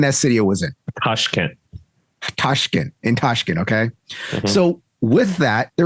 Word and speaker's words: Tashkent: Tashkent.